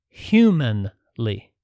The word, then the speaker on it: humanly: delivered into the situation humanly and I'm pronouncing it that way on purpose I know there's the word humanely but I'm saying humanly like a human with Humanity that is with wisdom